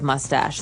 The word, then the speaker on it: mustache: Interesting fact, you might hear someone say stash instead of mustache.